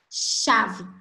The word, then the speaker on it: chave: Então, olha só, na palavra chave, nós contamos 5 letras. Porém, a gente encontra ali apenas 4 fonemas, porque o CH, ele forma apenas um som, que é o som de chave.